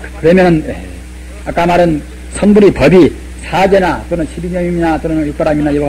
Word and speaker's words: 사제: 그러면 아까 말한 선불의 법이 사제나 또는 12년이나 또는 육바람이나 이와 같이 법이 있다고 말씀드렸는데, 그런 가운데도 이 사제법문, 신실할 채자인데 아까 말씀하셨다만 사제라고 이것은 음편상 그렇게 발음합니다.